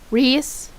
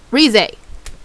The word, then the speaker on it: Rize: rampant, essentially giving, dang it, how do you pronounce her name? Reese? No, not Reese Grimmery, no. It was pronounced a little bit differently, I can't even remember. Rize.